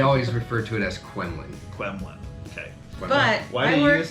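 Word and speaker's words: Q'emiln: it that they always refer to it as qulin qulin okay but I worked there in high school as a lifeguard and I looked it up online it is definitely pronounced caman and I would I would say that Lexi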